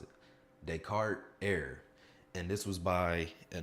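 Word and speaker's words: Descartes: No, not you don't you don't pronounce the S because it's that's not how you pronounce it. Decart Er.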